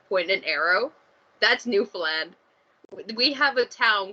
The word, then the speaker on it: Newfoundland: in canada where on i gotta pronounce properly newfound land okay okay okay okay we don't say it we don't say it like that we say it newfoundland we don't say the ds at all there's no no d